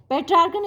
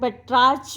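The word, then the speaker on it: Petrarchan: कई बार कुछ लोग पेट्रार्च भी, क्योंकि CH है ना इसकी स्पेलिंग, तो कुछ लोग पेट्रार्च भी इसको प्रोनाउंस करते हैं।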